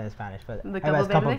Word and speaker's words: Campoverde: You're like the very few people that say my name in Spanish. I know you're Spanish, so that's what you say in Spanish. But the Campoverde? Campoverde.